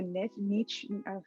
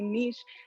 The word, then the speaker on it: niche: It's so important, no matter who you are, or no matter how much of a niche, excuse me, I'm not even pronouncing that word correctly, niche.